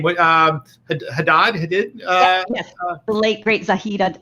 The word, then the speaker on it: Hadid: I always mispronounce her name. What? Hadid.